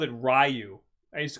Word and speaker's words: Ryu: like the cartoon and the movie called him Ryu. So that was teaching us how to say the character's name. All right, I'll that's not your fault. It wasn't until years later we learned it was Ryu.